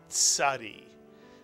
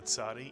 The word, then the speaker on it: Tzadee: It really is a very easy letter to pronounce once you think of the Mr. and Mrs. Katz, the ts sound, the Tzadee.